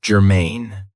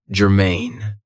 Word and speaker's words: germane: So, the first adjective I have for you is germane. Now, this has 2 cables, and the stress is on the second syllable. It's a blast, germane.